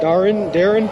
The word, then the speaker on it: Darwin: I live in a place called Darwin. They say it Darren.